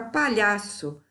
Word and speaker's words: palhaço: Na palavra palhaço, nós vamos procurar a sílaba tônica. Palhaço. Sílaba tônica penúltima, paroxítona.